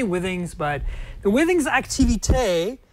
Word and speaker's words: Withings: how you say it people say why things some people say with things I say Withings but the winning xacti